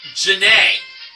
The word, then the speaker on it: Jean: And we learned that Jean's name is actually pronounced Janae.